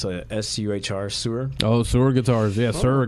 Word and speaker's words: Suhr: I don't know how you pronounce it. It's SUHR, Sewer.